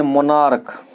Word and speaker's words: monarch: फिर लिखिए आगे मोनार्क, स्पेलिंग बोलते जाइए।